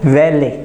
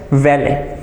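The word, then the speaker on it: valet: काम रहता है सो इट इज कॉल्ड वले वी ए एल ई T parking attendant V ए एल ईटी it's pronounce S वैले वैले parking attendants इनका काम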